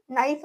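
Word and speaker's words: knife: ചെയ്യത്തില്ല നമ്മളത് എഴുതുമ്പോൾ മാത്രമാണ് കെ എൻ ഐ എഫ് ഇ എന്ന് പറഞ്ഞ് നമ്മൾ എഴുതുക പറയുമ്പോൾ നമ്മൾ നൈഫ് എന്നാണ് പറയുക ആ ഉച്ചാരണം ഒരു കെ നമ്മൾ അവിടെ സൈലന്റ് ആക്കി വെക്കുകയാണ് സോ അപ്പൊ അത് എന്തുകൊണ്ടാണ്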